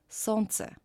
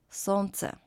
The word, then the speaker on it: солнце: And combination of letters L, N, pronounced as N, солнце, солнце.